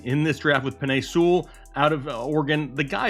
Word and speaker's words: Sewell: when i first couple times i heard it pronounced it was seawolf and then it is sewell okay we know that but i've been messing